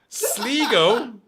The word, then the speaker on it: Sligo: it's sligo as anyone who's ever knows anything about it would know how it's pronounced sleego and it just all